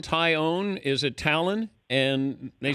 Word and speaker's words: Taillon: pronunciations you can do tyone is correct with a tie and you own it but uh over the